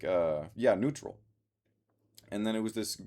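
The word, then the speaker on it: Nütrl: So, I got a different vodka seltzer called Neutral. It's spelled lowercase n u with the umlaut, which is the two little dots over it and then t r l. Neutral.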